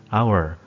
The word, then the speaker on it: hour: sudah dijelaskan tadi bahwasanya kata hour itu Perancis Xenia atau pelafalannya seolah-olah huruf hanya hilang yaitu langsung dibaca our jadi untuk Inter dan